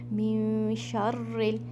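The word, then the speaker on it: مِن شَرِّ: मिन शर्रिल, अगेन यहाँ पर हमज़तुल वसल, जैसा कि मैंने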